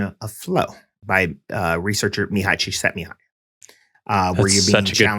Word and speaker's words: Csikszentmihalyi: In fact, it is very similar to the definition of flow by researcher Mihai Csikszentmihalyi. Where you're being such a good pronunciation, by the way.